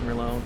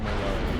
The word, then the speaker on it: Merlot: It's a wine called Merlot. The T is silent. You pronounce it like Merlot.